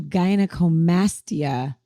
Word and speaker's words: gynecomastia: So speaking of Vic, I see here that you do gynecomastia surgery. Am I pronouncing that right?